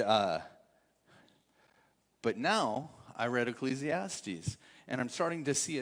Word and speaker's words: Ecclesiastes: you who don't know it's not pronounced ecclesiastics like I said for years it's Ecclesiastes and uh many years